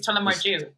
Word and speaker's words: Tullamore Dew: But like Tullamore Dew is Tullamore Jew. Tullamore Jew. That's not good. It's just, That's just how we pronounce that word.